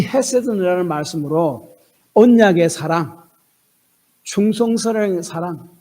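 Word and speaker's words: חסד: 그냥 헤세드는 아니고 정확하게 발음은 아주 좀 거친 발음이 나와요. 헤세드 이렇게 됩니다. 이 헤세드라는 말씀으로 언약의 사랑, 충성스러운 사랑, 변하지 않는 사랑, 지속적인 사랑이라는 말이에요.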